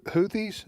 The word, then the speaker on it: Houthis: And the By the way, is the Is it Do you pronounce them the Houthis?